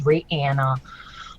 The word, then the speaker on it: Rihanna: which by the way apparently that's how you pronounce her name it's Ranna um but yeah um she is a name